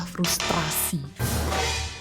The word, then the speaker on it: frustrasi: Frustasi langsung gitu enggak pakai R. Iya frustasi karena yang betul adalah frustrasi. Hah? Karena serapan dari bahasa Inggris. Frustrated.